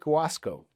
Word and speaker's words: Guasco: happy to have with us this morning Mike Wasco. Good morning. Good morning. So, Mike, did I pronounce the last name right, or did I butcher it?